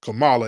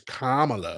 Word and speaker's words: Kamala: It's not Kamala. It's Kamala.